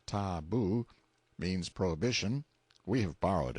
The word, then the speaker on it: tabu: in hiding-places till the tabu pronounced ta-boo, means prohibition, we have borrowed it, or sacred.